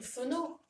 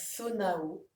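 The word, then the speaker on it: Sonau: S'agirait-il de la civilisation Sono? Bon, je sais que ça se prononce Sonao. Personnellement, je préfère dire Sono.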